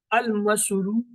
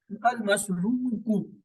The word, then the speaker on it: المشروع: یہ مفعول ہے، لیکن الف لام کی وجہ سے اب اسے کیسے تلفظ کریں گے؟ المشروع، المشروع، پیش ایک لائن۔ اگر الف لام نہ